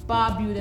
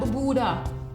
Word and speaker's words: Barbuda: Pronunciation Antigua, not Antigua. Antigua and Barbuda, not Barbuda. Barbuda.